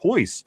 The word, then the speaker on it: Royce: CJ Stroud Ty says Vegas Royce is pronounced Hoyce in a Brazilian Portuguese.